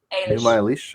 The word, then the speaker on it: Enuma Elish: Did the Epic of Gilgamesh share a god pantheon with the Enuma Elish? Is that how you pronounce it? Enuma Elish?